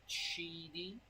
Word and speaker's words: QIDI: It is pronounced Chitty Chitty. Chitty Chitty Chitty Chitty Bang Bang.